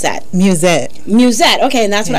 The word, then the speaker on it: Mewsette: pronounced an mus s zett how do you pronounce that music music okay and that's what I thought but